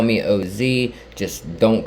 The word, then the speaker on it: Oz: but it's o z it's o z with a period but that's not really